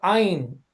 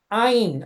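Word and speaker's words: עין: La Ain, es que la letra Ain se pronuncia, es una gutural, se pronuncia Ain, Ain, es muy, muy rara esa pronunciación, Ain. Es como si lo dijéramos de manera gangosa, Ain, igual a Aleph o la Ay, Het, que son ay, guturales.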